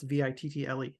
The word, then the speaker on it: victual: there it is yeah that's exactly how I pronounce v i t t l e Vittle just the way a robot would pronounce